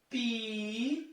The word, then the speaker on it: Piauí: Porque nós vamos ver aqui embaixo a palavra Piauí. Perceba a palavra Piauí. Pi-au-i. Perceba que o I está depois de um ditongo decrescente. Ah, professor, mas Piauí é acentuado.